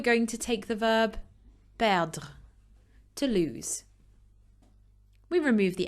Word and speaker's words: perd: Je perds, tu perds, il, elle perd, on perd. And you'll notice that so far, I haven't actually pronounced the D or the S for any of those. It's silent. Nous perdons.